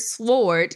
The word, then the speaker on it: sword: is it for example in the word sword you don't pronounce the letter w this thing could be